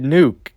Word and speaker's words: Nuke: Because it Nuke. It rhymes with Luke, like Luke Skywalker.